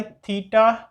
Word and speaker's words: theta: सो नाउ लेट us first of all start by थीटा notation. ठीक है ना, इसको किस तरह से प्रोनाउंस करते हैं?